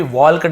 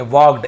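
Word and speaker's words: walked: टू all this यानी ये सब जो सुन रहा था, वॉक्ड, यहाँ पे भी वॉल कट नहीं पढ़ेंगे, वॉक्ड, एल साइलेंट होता है, वॉक्ड over to द बॉय, लड़के की तरफ आगे बढ़ा, लड़के की तरफ चल के गया।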